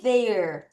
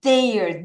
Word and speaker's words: there: is there 다시 is there the 자 th 발음할 때 혀를 넣다 빼야 되죠.